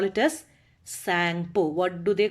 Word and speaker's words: Tsangpo: Okay, where it is called Tsangpo. What is it? Tsangpo. T is silent there. Okay, Tsangpo.